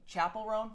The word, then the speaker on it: Chappell Roan: And Chappell Roan, that's how you pronounce it, right? Chappell Roan?